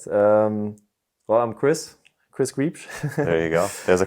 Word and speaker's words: Griebsch: Well, I'm Chris Griebsch. There you go. There's a correct pronunciation. Correct is Griebsch. There you go. That's a very German way.